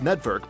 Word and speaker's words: NetVRk: It is pronounced Network, but if you look thoroughly, it is Net and VR with a K.